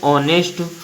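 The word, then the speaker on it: honest: फिर लिखा है ऑनेस्ट। ऑनेस्ट में ONEST ते का उच्चारण होता है, यच का उच्चारण नहीं होता, तो यच साइलेंट है।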